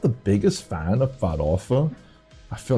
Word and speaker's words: farofa: The funny thing about spelling in Portuguese is it just looks incorrect, but you just spell it as it sounds. So it's literally farofa.